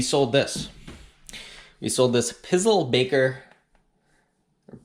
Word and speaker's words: Pizzelle: We sold this Pizzle Baker, or Pizzelle, I guess is how you pronounce it.